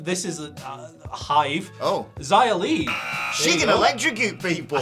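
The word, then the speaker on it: Xia Li: is a hive oh Zaya Lee She's an electrocute people said Hive because Lee rhymes with B and B's live in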